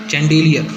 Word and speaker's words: chandelier: अब ये देखिए थोड़ा प्रोनाउंसिएशन में प्रॉब्लम है। क्या है ये? CHANDELIER, चैंडेलियर।